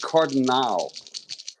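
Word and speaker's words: Cardenal: I pr pronounce it cardal Cardinal okay with that a at the end that makes more sense okay it's not like a cardinal not like a St Louis Cardinal it's card cardal cardal okay well no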